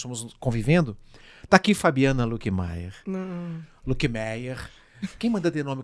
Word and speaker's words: Luckemeier: Como é que a pronúncia correta que a sua família... Lickmeyer. Lickmeyer. Mas é porque eu li. É porque é com trema, né? O com trema. É o trema, mas é alemão? Alemão, é.